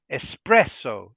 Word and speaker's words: espresso: word and again this the stress is in the middle so we say espresso espresso espresso okay seventh